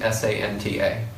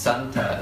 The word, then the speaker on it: santa: So it's spelled the same, S-A-N-T-A. But it's pronounced Santa instead of Santa.